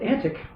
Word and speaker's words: antique: that word is as as shakespeare pronounced it apparently from the scansion of the verse he pronounced it antic and i i suppose